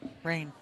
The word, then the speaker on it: Rein: Rein. These are Rein. He told me Ryan? it's pronounced Ryan.